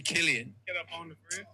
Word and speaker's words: Cillian: So it's actually Killian.